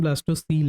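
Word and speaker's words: blastocoel: प्रशन ब्लास्टो सल है पर ऐसे कोयल बोलने से बात य होती है कि याद रहता है कि स्पेलिंग यह हैसे स्पेलिंग का कोई फर्क नहीं पड़ेगा पर कई सारी चीजों में होता है इसलिए हम इसको ब्लास्टो कोयल बोल सकते हैं वैसे ब्लास्टो सल होता है ठीक मैं ब्लास्टो कोयल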